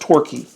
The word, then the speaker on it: Torquay: was called and this is their toilet set Torquay here it is tio our qu a why it's pronounced Torquay and it's virtually identical to Homer Lachlan that